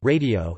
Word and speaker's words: радио: For example, unstressed, O, spelled O, is usually pronounced or, but radio, radio is pronounced ra, d, o, with an unstressed final o.